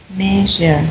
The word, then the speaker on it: measure: yeah the shb okay practice the shh okay fish mouth sh like the man sure measure measure measure measure yes that's right measure okay so you can